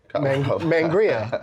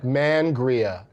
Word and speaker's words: Mangria: It's Adam Carolla's Mangria. Mangria. You gotta emphasize the man aspect You of think it.